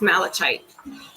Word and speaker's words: malachite: It's like Malachi.